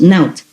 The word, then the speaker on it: Not: And over here I have written like Naut, N-O-T, pronounced Naut.